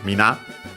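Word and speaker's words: みんな: Uh Mina uh should be accent on the last syllable. Uh it means everyone, everybody. Uh technically the uh original form is Mina which is actually still used.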